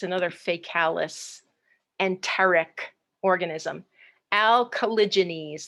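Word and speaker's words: Alcaligenes: Alkalogenese, that's how you say that genus.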